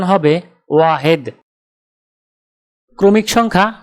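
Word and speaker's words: واحد: আরবি ক্রমিক সংখ্যা 1 দেখতে এরকম, উচ্চারণ হবে ওয়াহেদ। তাহলে 1 ক্রমিক সংখ্যাটির আরবি উচ্চারণ হবে ওয়াহেদ।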